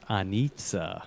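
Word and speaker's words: Anica: my wife serbian and i hear that name is actually pronounced on itza in serbian she knows yeah but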